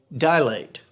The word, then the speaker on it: dilate: say it dilate but there's there's no a before the l the a is after the l it's dilate not dilate two syllables not three heather olsen says exclamation